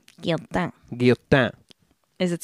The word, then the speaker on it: Guillotin: But the guillotine itself has its origins, again, in the bloody days of the French Revolution, and so that's where we're going to go now.